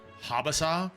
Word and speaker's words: Habasa: So, the weird thing is they pronounce it Habasa just kind of like Sakura.